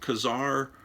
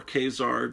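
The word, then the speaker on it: Ka-Zar: neil adams cover with kazaar or kzar depending on how you pronounce it you know is it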